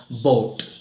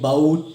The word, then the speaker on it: bought: Okay, ഇനി മൂന്നാമത്തെ വേർഡിലേക്ക് പോവാം, ബോട്ട്. ഓക്കെ, ബൗട്ട് അല്ലെങ്കിൽ ബൗഗിട്ട് എന്ന രീതിയിലല്ല, ബോട്ട്.